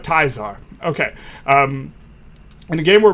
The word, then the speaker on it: Caesar: Everyone knows this is pronounced not Caesar, but Tizar.